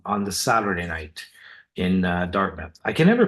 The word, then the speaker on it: Dartmouth: you you nailed it it's Dartmouth it's not Dart mouth it's Dartmouth yeah almost like the O in mouth isn't there Dartmouth right Dartmouth okay